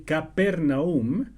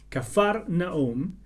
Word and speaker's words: Cafarnaúm: el agua en vino en cafarnaún o también capernaúm pero esta versión prefiere esta otra pronunciación que en realidad es más cercana al original cafarnaúm había un oficial del